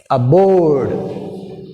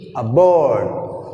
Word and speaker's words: aboard: Aboard, aboard, aboard, board, board. B is second part, second syllable, B. This is A is first syllable. So this is weak prefix, A.